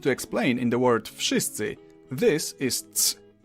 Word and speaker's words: wszyscy: the hell they want, in Polish you simply pronounce each sound one after another and you get the word. W, sz, I, s, c, I. Wszyscy.